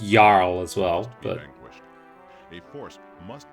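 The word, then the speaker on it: jarl: has sworn to protect pretty sure it's pronounced yarl as well a force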